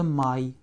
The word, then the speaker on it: май: Это май. Это май. Хорошо. Pour dire le mois de mai en russe, nous disons mai. Et nous écrivons M, A, и краткое.